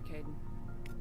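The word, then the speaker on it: Kaidan: Oh, Caden, you're great. I am probably going to continue to call him Kaiden, though, because K-A-I is Kai in Japanese, and I am much more familiar with that pronunciation.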